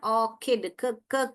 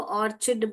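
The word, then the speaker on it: orchid: आपको क्या पढ़ना है ऑकड क बहुत लोग इसको ऑर्चिड बोलते हैं जो कि है ऑकिड ऑकड फ्लावर्स आई लव ऑकड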